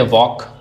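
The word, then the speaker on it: walk: जैसे वॉक, टॉक, half. अब इसमें एल है लेकिन साइलेंट है।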